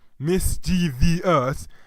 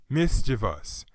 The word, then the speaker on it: mischievous: In fact, you've probably heard many people announcing the word as mischievous when it's actually a 3-syllable word pronounced as mischievous. That problem lies in the fact that the old form of the word was spelled with an extra I at the end, which was standard until the 1700s.